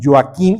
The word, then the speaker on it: Joaquim: Acá vamos a tener sin lugar a duda, Joaquim en catalán con M, ¿no? Joaquim y se pronuncia la J como yo.